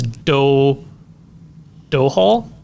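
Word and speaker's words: Domhnall: I'm gonna butcher it it's spelled dumb Hall Gleason but it's dough dough Hall okay Gleason the uh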